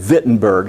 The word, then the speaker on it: Wittenberg: you think about german if you think about wittenberg or it's spelled wittenberg it's said wittenberg so v and w